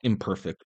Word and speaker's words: IMperfect: It's spelled imperfect, but said I'm perfect.